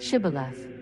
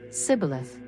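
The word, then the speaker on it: shibboleth: by asking him to say the word Shibath. But the Ephromites couldn't pronounce it correctly and would say Cibilith.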